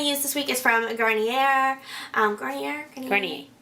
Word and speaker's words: Garnier: Continuing on, so the scrub I'm going to use this week is from Garnier. Garnier. Better pronunciation.